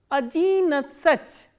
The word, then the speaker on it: одиннадцать: Please pay attention to the stress. Here stress is on E in Ajin, here the stress is on A in Natsach, and here again the stress is on A.